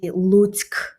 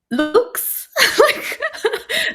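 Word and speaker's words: Луцьк: It's I've so noticed that even the name of my native city, Lutsk, is very difficult to pronounce, and many people say looks like, but it's not.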